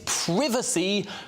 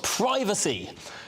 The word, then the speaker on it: privacy: The word is privacy, not privacy. We're English, we're not American.